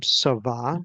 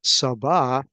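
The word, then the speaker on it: צָבָא: It's pronounced um savah.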